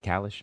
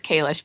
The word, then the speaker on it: Kish: do you say it is it kalish method did I mess that up a little bit it's Kish but we won't tell